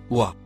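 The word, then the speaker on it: و: droite vers la gauche la première lettre en surbrillance jaune se prononce ouah elle se traduit par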